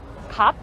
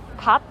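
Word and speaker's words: gat: on top but yeah that hat is called cup cup so it's spelled g-a-t pop but it is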